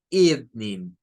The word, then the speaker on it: evening: Con 3 sílabas. Y no son 3 sílabas en inglés, son solo 2. La primera sílaba son esas 3. Y esto solo suena la E y la V. Eve, Eve. Y no suena a Ev, suena a Eve, Eve. Es un sonido de I corta.